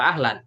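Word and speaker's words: أهلا: Nah, sebelum ini dibaca apa? Ihlan apa ahlan? Ahlan. Oh, biasanya dibantu alifnya seperti ini. Ada kepala ain yang ada di atas.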